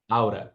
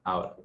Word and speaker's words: out of: Aqui, antes de seguir, eu gostaria de fazer uma pausa para explicar essa junção aqui, out of, aura, né? Você pronuncia-se aura.